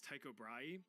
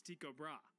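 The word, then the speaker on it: Tycho Brahe: Now, trust me, for the life of me, I really want to pronounce this guy's name is Taiko Bry, but apparently the proper Danish pronunciation is Tiko Bra.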